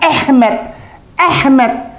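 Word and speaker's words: אמת: Ini ada emet, ini ada emet. Dibacanya ehmet.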